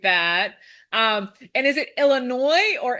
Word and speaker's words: Illinois: Um and is it Illinois or Illinois? Like what like for real, how do we pronounce it? That's a it's a silent S.